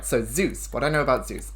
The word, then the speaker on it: Zeus: All right, so Zeus. What I know about Zeus. I know lightning. That's mostly it. Lightning... father god of all the gods, I think. Name rhymes with juice.